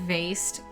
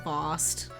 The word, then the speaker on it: vase: When you said vased, I wanted to interrupt you and go, it's pronounced vost.